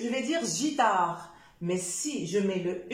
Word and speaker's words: guitare: Avec GU, guitare. Guitare, si j'enlève le U, ça va donner guitare. Alors, pour éviter de prononcer je dois mettre le U.